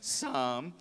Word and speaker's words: psalm: Psalm that most famous some by the way it's the silent P and a silent L it's like s double a.m.